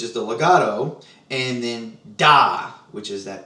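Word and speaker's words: dah: air to it, and that is pronounced da, D-A-H.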